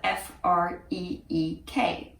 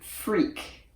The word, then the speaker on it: Freek: and that is spelled F-R-E-E-K. Even though it is pronounced Freek, if you see it written out as an American or an English-speaking person, you would probably pronounce it Freak, which is not exactly